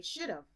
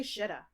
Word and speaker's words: should've: plus have she said i say should've but i never say should have i say shita i should have gone